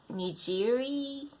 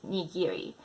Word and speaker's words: nigiri: A lot of people say nigiri, but it's nigiri.